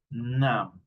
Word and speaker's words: numb: Listen to me, I'm not pronouncing the letter B. Dead, doubt, dumb, lamb, limb, numb.